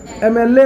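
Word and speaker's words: MLA: एमएलए को अगर आप प्रोनाउंसिएशन आप देखें तो क्या लिखा है, एमएलए ना, साउंड कैसा आ रहा है, वॉवेल साउंड आ रहा है, ए आ रहा है।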